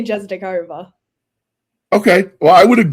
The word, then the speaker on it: Jezdikova: In Czech, you would say Jezdikova, but I say Jezdikova.